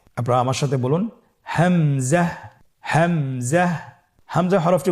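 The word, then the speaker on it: همزة: পরবর্তী হরফটির নাম হামজা। হামজা হরফটি উচ্চারণের ক্ষেত্রে বারিক করে উচ্চারণ করতে হবে এবং এখানে টেনে পড়া যাবে না। দ্রুত পড়তে হবে। আপনারা আমার সাথে বলুন হামজা হামজাহ হামজা হরফটি উচ্চারণ স্থান হা এর মতই।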